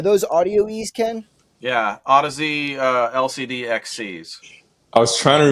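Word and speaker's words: Audeze: Yeah, Odyssey LCD XCs. I was trying to remember the name of those for someone. I called them Audis forever, and then Manny Merrick can correct me.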